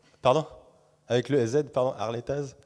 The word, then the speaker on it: Harletaz: Harletaz, pardon, c'est mon côté haut de savoir, on prononce pas les Z.